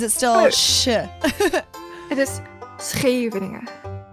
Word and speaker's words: Scheveningen: German people have a tendency to say Scheveninger, but you pronounce the SH part as CH part S, or like her, like in geest.